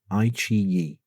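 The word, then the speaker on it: iQIYI: And I will tell you that the Chinese version of Netflix is called II. Um, spelled IQI Yi, but pronounced II.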